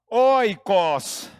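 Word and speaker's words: οἶκος: grega que você não precisa guardar que se pronuncia Oikos essa palavra significa casa e nesse sentido como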